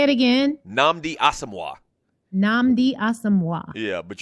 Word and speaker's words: Nnamdi Asomugha: football player so I'm you say it again Nnamdi Asomugha nnamdi awesome one yeah but you know what